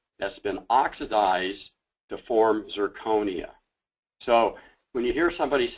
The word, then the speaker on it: zirconia: start with nomenclature uh it's amazing how many people say it wrong including myself what we're talking about is zirconia okay it's an oxide of